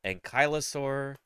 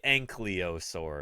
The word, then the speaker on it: ankylosaur: so yeah anoing spondilitis ankasa ankylosaur just don't say ankur because if if she